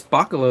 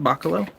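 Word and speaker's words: Bachalo: his name uh Chris Baca low though I think that's correct pronunciation right Baca low like Bach like the musician so anyway oh yeah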